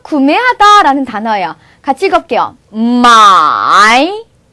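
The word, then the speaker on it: 买: 마이. 자, 사다, 구매하다인데요. 우리가 구매하다에서 매자라는 단어가 바로 이 글자예요. 매라는 글자가. 그러면 발음이 기억이 안 나시나요?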